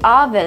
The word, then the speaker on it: oven: خب دوستان عزیز، متوجه باشین که این کلمه مثل oven oven تلفظ نمیشه. در اینجا ما صدای آ نداریم. باید به شکل آ مثلا up cup up cup oven oven oven تلفظ شود.